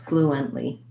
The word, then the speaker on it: fluently: there flu and otherwise because it's not fluent but flu and so there's a syllable break there flu and we use a stopped t and we release right into the um the lee so flu um three syllables fluently so you could start